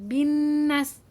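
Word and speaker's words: بالناس: Hai begitu bacaannya ya bukan binas tapi binnas karena diapit Oke anak sholeh dan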